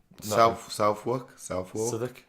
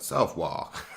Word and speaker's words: Southwark: That's a Southwark. Southwark. What? Southwark. With the W. Yeah. Southwark. Southwark. But it's got a W in it. Yeah, it does. So it's not pronounced. No. Southwark is like Southwark.